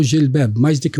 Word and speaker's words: jilbab: Nela, Deus exige para os crentes cobrir o cabelo, usar o jilbab, mais do que o cabelo até.